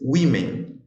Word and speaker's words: women: é woman e mulheres Women tá então a pronúncia muda bastante então alcoholic shit